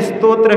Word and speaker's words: स्तोत्र: हाँ, कुछ लोगों को जो है स्तोत्र शब्द का उच्चारण भी नहीं आता। स्तोत्र है, त्रा बाद में है, त्रा पहले नहीं है।